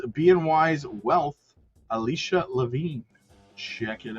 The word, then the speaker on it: BNY: Alicia Lavine, head of investment strategy and equities at Bony. No, wait a minute. It's BNY, but it's Bimo. BM You pronounce Bimo, right? But we're BNY, but you're not Bony.